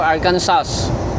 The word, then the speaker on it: Arkansas: I think silent S to eh. Pag pinapakinggan ko, no? Correct nyo ako, no? Yung mga taga dito, no? Arkansas ba or Arkansas? Arkansas. Yan ang naririnig ko palagi eh.